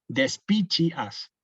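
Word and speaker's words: despicias: speechs yo le suelo repitan esta palabra de espichas de espichas de espichas así entonces les va a quedar le va a quedar Cuando vean otra palabra Con la c con la isla van a repetir les va a salir solo decirle como chip no de spichias sí como chelon como chelis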